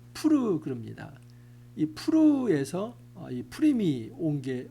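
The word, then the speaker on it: Pur: 우리가 부루의 이름을 따라이 두를 부림이라 하고 그러니까이 부림이라는 말은 부르에서 왔다는 겁니다.이 부르는 한글로 음력한 것이고 원래 히브리어의 발음은 푸르 그럽니다.이 프르에서 어이 푸림이 온게 오게 된 것이죠.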